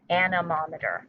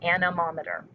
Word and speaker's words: anemometer: cups the rod spins anemometer that is uh the correct way to say that i double checked anemometer says we cannot see